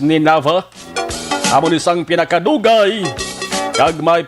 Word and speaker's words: Nineveh: Kung ato ni sabi sa basahon mga ka-aksyon, Nineveh, N-I-N-I-V-E, parang pronunciation niya is Nineveh.